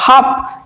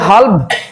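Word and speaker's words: half: দেখো হাফ, আমরা কি বলবো যে হাল্ভ, না এমন হবে না, উচ্চারিত হবে হাফ।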